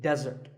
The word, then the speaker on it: desert: a meal and it should not be confused with desert here the stress is on the first syllable which is death desert now I said that